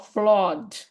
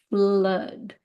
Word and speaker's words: flood: how to pronounce it we would say fla flaw but it's not flaw it's flood blood because in English